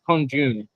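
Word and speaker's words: 空军: Pronunciation is kongjun or kongjun.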